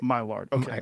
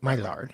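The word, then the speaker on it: Maillard: Is it myar? No. M A I L L A R D. Right. Myard. Myard.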